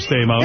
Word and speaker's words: Stamos: I think homos rhymes with Stamos.